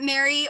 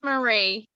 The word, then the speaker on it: Marie: up we have mary is it mary or am i pronouncing it right it's marie marie yeah marie i'm sorry